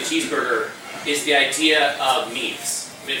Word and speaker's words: meme: In English it isn't pronounced meme, it isn't pronounced, there actually is a French word named meme, but it's intended to rhyme with the word gene.